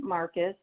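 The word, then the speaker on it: Marquez: good shape can you state your name and spell it for the court reporter yeah my name is marcus is marcus m-a-r-q-u-e-z and i'm a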